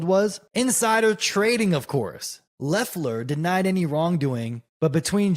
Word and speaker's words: Loeffler: I guess it's pronounced Loeffler. The O is silent, it says.